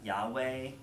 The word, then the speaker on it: Yahweh: yad hey Bob hey sometimes you pronounce it Yahweh but but early Jewish